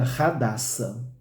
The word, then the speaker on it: Hadassa: Mas, se nós lermos de acordo com o hebraico, seria Hadassa. Então, é só para trazer para os irmãos que se você estiver falando Hadassa, você estará se aproximando da pronúncia hebraica. E se você estiver falando Hadassa, você estará falando do português, Português brasileiro, O H